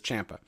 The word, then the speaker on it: Ciampa: Did the people in attendance at this taping get spoiled about Ciampa, actually, I've always wondered how to say it, but he says Ciampa. He himself says Ciampa.